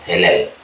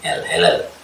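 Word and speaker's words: הילל: Ini He, ini Yod, ini L, Helel. Jadi beda dengan Halel ya, ini ada Yodnya. Kalau Halel tidak ada Yodnya, jadi bacanya beda. Nah, Yod itu menimbulkan E, atau kalau kita pakai masoret, dia kasih tanda baca ini, udah E itu titik 2 itu E itu aja.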